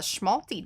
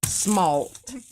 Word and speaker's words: smalt: It's kind of going the way of how the schmalty does, though. It sort of kind of is. Schmalty. Smalt.